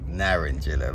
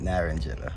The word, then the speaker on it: naranjilla: I know it is the Spanish term where you roll your tongue to Naranjilla, but that's how I'm pronouncing it, Naranjilla.